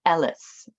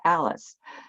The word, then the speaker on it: Alice: times where the way he pronounced my name was Ellis you know like Ellis Island so that's the closest he could get to Alice and uh so uh